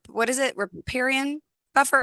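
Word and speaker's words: riparian: the waterfront property right um how do I pronounce it the r what is it reparan buffer reparan buffer yes so reparan buffer is an area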